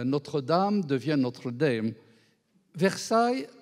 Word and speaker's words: Versailles: Dame devient Notre Dame versaill on m'a dit il faut prononcer versaill comme à versaill donc c'est même aux